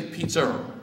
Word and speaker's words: pizza: naturally now we say pizzer now there's no r at the end of pizza you understand that but we pronounce it pizzza a lot of us